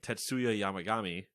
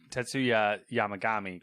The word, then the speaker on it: Tetsuya Yamagami: The suspect of the shooting, Tetsuya Yamagami, which, how I blind read that correctly. Yeah, I was going to ask, so you blind read Tetsuya Yamagami correctly, but then we're like, Shinzo Abe.